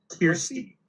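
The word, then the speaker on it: Kirstie: Christy Alley, yeah, and she was in the movie.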